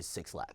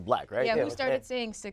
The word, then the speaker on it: 6LACK: perceive it you know a lot of people still say six laughs man and of course the black we show no no I